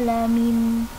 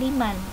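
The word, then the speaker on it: لمن: 25 ada bacaan dzalika lamin. Hati-hati, lamin bukan liman, karena memang kebanyakan liman, tapi di sini dalam surat Asy-Syura ayat 43 dibacanya lamin bukan liman ya, hati-hati, lamin.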